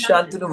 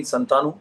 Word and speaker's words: Shantanu: name in school though in school it was spelt without the age so in school everyone called me santanu you know being in a typical jesuit whatever common school you know without the h they never realized that s a tnu would